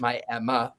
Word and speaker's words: Miami: the Coleman Theater in Miami, Oklahoma. They call it Miami, Oklahoma, but it's spelled Miami.